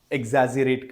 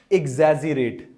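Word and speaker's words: exaggerate: है बात का बतंगड़ एजरेट करना सस बनेगा डोंट देखो ये वर्ड स्पेलिंग है इ एक्स A double ji ई आर ए टी ई इसकी साउंड होती है एजरेट क्या होती है एजरेट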